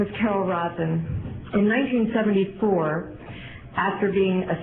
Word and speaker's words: Rosin: Carol, and it's Rosin. I guess I was pronouncing it wrong. I was saying Roslyn.